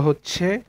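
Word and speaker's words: ح: তারপরে এই হরফটি হা, হা, হা। এই হরফটি উচ্চারণ করতে মানে আপনার মুখের বাতাস বের করবেন, হা।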